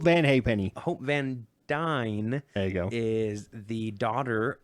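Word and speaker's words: Van Dyne: be playing hope van dime which is dine D did I say dime you said dime oh my gosh hope vancar hope van nickel no hope van hey peny Hope van dine there go is the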